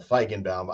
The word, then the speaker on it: Feigenbaum: gonna ask you oh go ahead it's impossible fan bam it's better to use the first part of